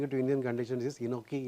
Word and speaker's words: enoki: And there is one interesting mushroom I want to bring it to Indian conditions, is enoki, it's called. Enoki. Enoki. Enoki. Spell it, sir.